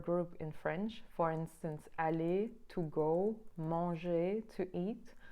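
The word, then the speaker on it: aller: in French for instance Ali to go monge to eat all of these have an R but the r does not get pronounced and the adjective Jean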